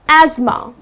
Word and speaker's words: asthma: to say asthma but its not asthma the correct pronunciation is azma okay - so that's the correct pronunciation.